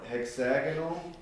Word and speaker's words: hexagonal: Yeah, it's a hexagonal. You change the pronunciation.